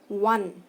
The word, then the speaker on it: one: इसी तरह से वन, ONE वन जो है ओ से स्टार्ट हो रहा है वॉवल से, लेकिन प्रोनाउंस ओ का नहीं है, हम उसे व प्रोनाउंस करते हैं जो कि कॉन्सोनेंट है।